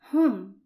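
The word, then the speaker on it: هم: For the final pronoun, which is they are, and it's pronounced in Arabic as hum, and it's written like this.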